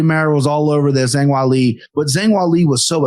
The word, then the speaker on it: Zhang Weili: I would have mispronounced that name regardless. But I miss Kenny trying to save me. Like, no, Zhang Weili.